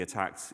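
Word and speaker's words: ATT&CK: So miter attack um yes it is an and but you kind of say it like attack um adversarial tactics techniques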